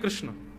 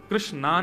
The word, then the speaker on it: कृष्ण: है बुद्धि एकाग्र नहीं कृष्ण कृष्णा नहीं कृष्ण ठाकुर जी का नाम कृष्ण रखा गया अब तो